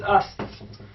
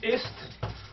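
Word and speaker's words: است: So never read it like this. The pronunciation of this is ast. And if you pronounce it like this, ist, so God forbid, ist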